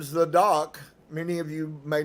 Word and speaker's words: Zadok: He corrected my pronunciation, putting the accent on the first syllable, Zadok, instead of Zadok.